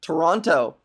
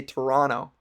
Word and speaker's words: Toronto: to be a torontonian don't pronounce the second T that's an N another n you gotta say Toronto the more you know